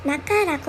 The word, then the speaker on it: 中: 그리고 이 중자는 츄 아니고 나카라고 읽습니다. 아메노 나카 하면 빗속보다는 비가 내릴 때를 얘기하는 말입니다.